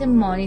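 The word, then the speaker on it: Money: حالا می‌رسیم به سیارک مانی یا پول که معنی لغویش پوله و دقیقاً هم به صورت مانی تلفظ میشه.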